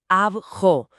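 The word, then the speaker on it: αυγό: Veo en la guía que la palabra para huevos se escribe augo, pero la transcripción dice que se pronuncia abjo.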